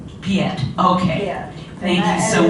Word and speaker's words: Piette: I had a very good friend who used to call me Piette, Sister Piette. But the pronunciation is Piette. Piette, okay.